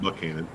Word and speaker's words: Buchanan: It's spelled Buchanan, but they call it Buchanan.